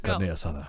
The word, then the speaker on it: carne asada: my God, he said carne asada. Yeah. And talk about food when you do it. Roll your R's, please.